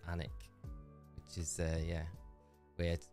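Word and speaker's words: Alnwick: mean I'm from a my hometown I always pronounce anik but a lot of people pronounce it because it's spelled a Ln Wick so it's alwick but if you're from there you pronounce anic which is uh yeah weird always got those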